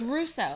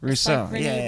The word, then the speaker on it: Rousseau: a special guest what's your last it's Russo Russo I I knew that but I didn't wasn't sure how to pronounce it if it was like a French